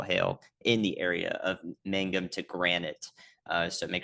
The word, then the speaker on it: Mangum: I have a y'all watch there that Ryan promptly ignored after he mispronounced Mangum, Oklahoma as Magnum. So, first we'll talk about that. It is Mangum that's receiving that um